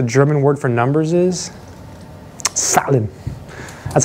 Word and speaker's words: Zahlen: Zahlen.